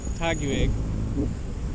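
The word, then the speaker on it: Taguig: this is the part of Manila we're in tacky week that's how you pronounce it and Bonifacio Global City is part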